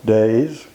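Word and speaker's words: Deas: out there now everywhere pringle days and again that's enough pronunciation of DEA s everywhere else it's DS pringle days Abercrombie Allan Buchanan bloke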